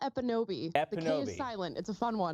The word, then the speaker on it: Ekpunobi: It's Amala Epinobi. The K is silent.